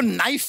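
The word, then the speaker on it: knife: शर्मा जी आपको नाइफ word मालूम है? नाइफ। हाँ। उसमें शुरुआत में जो के होता है, हाँ। वो क्या है? साइलेंट।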